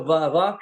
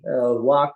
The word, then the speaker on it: vak: transliteration is V-A-K, but pronounced like W or V, Wak or Vak, and Bengalis will say Bak, but it's all the same word.